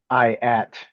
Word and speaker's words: IATT: We're here with Alec from IATT. Is that how it's pronounced?